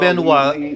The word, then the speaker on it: Benoit: And we asked him point blank, how do you pronounce it? It's Benoit.